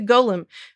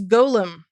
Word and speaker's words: golem: The pronunciation of this character from Jewish lore is golem. Hard O, JL. Hard O.